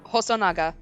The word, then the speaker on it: Hosonaga: Okay, can you remind me of how to pronounce that last name again? Hosonaga.